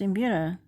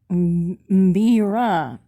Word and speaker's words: mbira: embedded zemu you spelled it as mbira it's pronounced in buddha not me ra i'm really sorry about that but don't worry